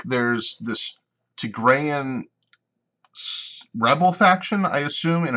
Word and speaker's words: Tigray: Eritrea, is how you pronounce that? Tigray, that's right, Tigray.